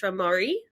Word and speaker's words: être marié: beautiful brand name so how do we pronounce it it's or as a lot of Aussies pronounce it it's ramari which means to be married in French oh I love that